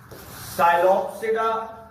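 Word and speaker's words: Psilopsida: साइलोप्सिडा, इसमें P silent, लाइकोप्सिडा, स्फिनोप्सिडा एंड टीरोप्सिडा, इसमें भी पी साइलेंट।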